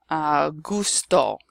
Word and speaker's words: gusto: G plus a consonant, it will be pronounced G. So for example, gota, which is like a drop, like a raindrop. Gato, cat. Gusto, mucho gusto. Or gracias, okay? The g, the hard g sound.